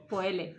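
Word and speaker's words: poêle: No, ¿cómo se escribe? Poele. Poel, entonces, poel. Poel. La poel. Y luego, mira, hemos aprendido a hacer la quiche Lorraine, ¿vale?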